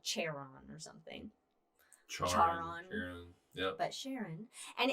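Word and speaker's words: Charon: yes so but so it's that's how it's pronounced with the sh the ch the sheriff sharon but yes no uh you're right about this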